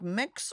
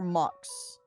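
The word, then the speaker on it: Mx: booze innocently Marion Webster says it's pronounced to sound like mix or mucks I looked back at it mux is an interesting one to pull I got I would roll then with mix mix makes makes the most sense Jane deers Jane beers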